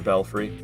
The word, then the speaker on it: belfry: Now that I think of it as butterfree, I think I'll I think I'll remember the pronunciation of belfry cuz there's also that in Elden Ring. You got the four belf and I never know how to pronounce it. And somebody has told me in the past and it never stuck. But thinking of thinking of Butterfree every time I'll remember Belelfrey.